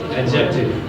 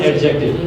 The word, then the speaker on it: adjective: Number third, adjective. What is this? Zahir, what is this? Not adjective. Adjective. D is silent here.